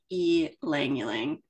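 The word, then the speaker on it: ylang-ylang: experience El langang is spelled y l a n g but you use the Y as a long e so you just pronounce it e langang so um if that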